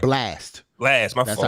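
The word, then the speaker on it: Blxst: Brunch on Sundays with Blix. That's No, it, right? Blast. Blast. My That's fault. how you pronounce Blast.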